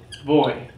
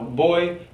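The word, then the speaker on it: voy: own and that is boy remember the pronunciation of v and b same thing so boy so those are the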